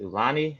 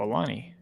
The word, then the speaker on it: Aulani: Ian Bender says, curious, I'm going to, I guess I pronounced it Ulani next year. Aulani.